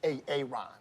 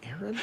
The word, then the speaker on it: Aaron: Why didn't you say it the first time I said Aon? Because it's pronounced Aaron.